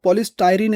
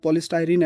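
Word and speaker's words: polystyrene: पॉलीस्टाइरीन इसको बोला जाएगा। अगर हम थोड़ा देखें तो बाकी इसका प्रोनाउंस देख सकते हैं आप। पॉलीस्टाइरीन है यह।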